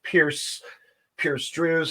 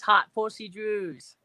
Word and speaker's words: Hot Percy Drews: guest at this time, Pierce Drews. How are you? Piercy Drews, how are you? Oh, you said my name wrong. It's Hot Percy Drews.